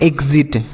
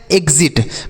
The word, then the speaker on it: exit: आगे लिखा है EXIT। इसे हम पढ़ते हैं एग्जिट। क्या पढ़ते हैं? एग्जिट।